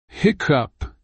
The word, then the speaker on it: hiccup: is soft and gentle hiccup I pronunciation tip the emphasis is on the first syllable heck and the cup